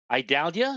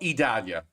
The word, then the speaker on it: Idalia: the ice storm, I would pronounce it Idalia. No, Idalia. That's the one. Idalia. Yeah. I is E.